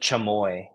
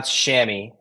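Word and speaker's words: chamois: m o i s it looks like chamoy or chamo or whatever this pronoun shammy technically uh I don't really like go after people that pronounce it wrong because I'm just I I could be wrong I'm pretty sure that's how you say it um but a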